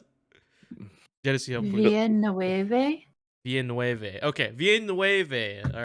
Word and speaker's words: Villeneuve: Dennis Villeneuve. Fuck. I already forgot how to pronounce it. Dennis Villeneuve. Villeneuve.